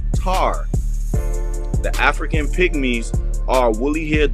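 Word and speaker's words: Ptah: Ta, P-T-A-H, is rightly pronounced Tar.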